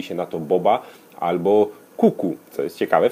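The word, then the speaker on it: QQ: Oryginalnie mówi się na to boba albo kuku. Co jest ciekawe, w tamtejszym języku oznacza to po prostu rzuć. Kuku. Zapisuje się to jako 2 litery Q. Także świetnie wygląda, świetnie się wymawia.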